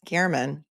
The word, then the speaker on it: German: allegedly that Jeff Gman it's spelled German g e r m but it's pronounced Garman Jeff Gan was contacted